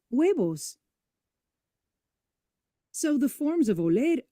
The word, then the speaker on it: huevos: Words in Spanish that begin with the we sound are written with a silent H, like the words for eggs, los huevos.